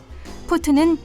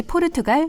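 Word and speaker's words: port: 때문에 붙여진 이름이라고 하는데요 본래는 포르투 이지만 17세기 후반 영국의 의해 전파되어 있기 때문에 영국식 발음 인 포트 로 불린다고 합니다 포트 와인은 크게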